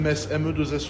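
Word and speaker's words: Metz: On dit on dit mess ou M mess comme une messe.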